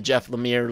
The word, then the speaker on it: Jeff Lemire: iteration which is the jeff lemire lemire i always want to pronounce it like some french name for some reason um but uh because